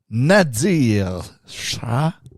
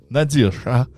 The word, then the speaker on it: Nadir Shah: En Inde, Nadir Shah. Excusez. Tu le prononces pas bien. Non, Nadir Shah.